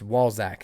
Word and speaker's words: Walzak: But so I keep mispronouncing his last name. It's Walzak. It's how he pronounces it.